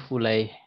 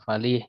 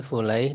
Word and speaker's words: Fulaih: Fulaih bisigati tasghir, ya, jadi Fulaih dengan sigot tasghir, ya, maka dibaca Fulaih gitu ya. Kalau supaya tidak dibaca yang lain, ya, tidak dibaca Falih misalnya, tapi Fulaih dengan bentuk tasghir, ya. Tasghir itu ya dibacanya berarti Fulaih.